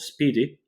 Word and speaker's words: SPDY: Google when they created the protocol called Speedy uh it's uh pronounced as spdy uh that's um the